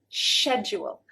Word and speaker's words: schedule: actually pronounced the word technically wrong for British pronunciation British is schedule schedule so you can see